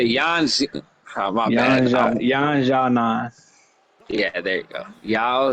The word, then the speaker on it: Yan Xiaonan: Yan Xiaonan. Yeah, there you go. Yao Zhang. Yan Xiaonan.